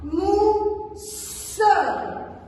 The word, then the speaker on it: mousse: Ici, on prononce le double S, on le prononce S, mais on insiste un petit peu à la prononciation. On dit la mousse.